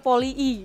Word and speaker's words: Polii: Jadi kan namanya Poli, I-nya ada dua kan? Iya. Nah itu cara bacanya gimana sih yang bener? Poli I ya? Iya, Poli I. Gitu. Oh, kayak orang tuh bawaannya ya poli aja, enggak I-nya enggak dua kali.